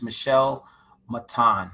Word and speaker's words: Michelle Matan: Okay, she says the correct pronunciation is Michelle Matan.